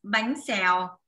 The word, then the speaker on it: Bánh Xèo: i'm gonna make today names bang sal okay that's how you pronounce it and you know why